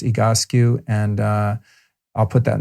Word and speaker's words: Egoscue: of a physical therapy program called egoscue spelled ego skew s-c-u-e-e-go skew pronounced egoscue and i'll put that in the show notes